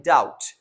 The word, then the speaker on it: doubt: or the other word we have doubt now the b is silent in doubt and then the last